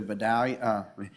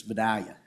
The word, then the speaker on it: Vidalia: move the meeting to Vidalia. If you say it like Andy Anders, it's Vidalia in Louisiana. We would say Vidalia probably, Louisiana, about 2 hours north of here.